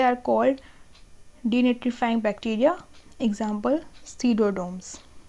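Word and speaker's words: Pseudomonas: They are called डीनिट्रीफाइंग bacteria, example सीडोडोम्स। इसमें I think P silent होता है तो उसको सीडोडोम्स बोलते हैं।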